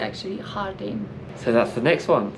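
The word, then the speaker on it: Jardín: Although we pronounce the Jardin, but yeah. it's actually Hardin.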